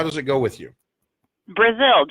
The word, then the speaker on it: Brazeal: Brazeal, just like the country. Very Excellent. good. Brazeal. Welcome. We've got Jessica Brazeal joining us.